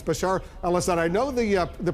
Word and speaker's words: Bashar al-Assad: in charge Bashar al-assad I know you've mispronounced his name a few times uh but uh it's Bashar alad I know the uh